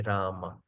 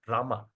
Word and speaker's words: Rama: That's why when we chant Har Krishna, we don't even swallow the word Rama. Example, H Krishna, H Krishna Krishna, Krishna, Hama, Hama, not Ram, Ram.